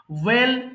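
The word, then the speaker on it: whale: কাঁকড়া মুনফিশ চাঁদা মাছ ওয়েল তিমি এখানে এইচ এর উচ্চারণটা হবে না হ্যাঁ সিম্পলি ওয়েল মানে তিমি হ্যাঁ ওয়েল তিমি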